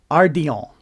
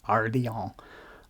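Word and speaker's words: ardillon: just learned recently is Ardon it's spelled a r d i l l o n I'm pretty sure it's French so it would be pronounced Aron um that's that's what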